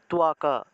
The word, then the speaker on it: ত্বক: বাংলা ভাষায় আমরা যে ত্বক উচ্চারণ করি, এটা আসলে আমরা ভুল উচ্চারণ করি। উচ্চারণটা হবে তুয়াকা, তুয়াকা, তুয়াকা এইভাবে। তয়ের নিচে বফলা থাকায় তুয়া উচ্চারণ হবে, তুয়া।